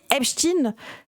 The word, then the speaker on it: Epstein: D'ailleurs, aux États-Unis Epstein c'est prononcé en appuyant sur le in parce que pour eux c'est ça le dog antisémite.